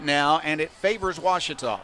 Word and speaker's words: Ouachita: cheetah is it pronounced back in texas everybody pronounces it wichita but really it's ouachita washington washington how would you pronounce it baptist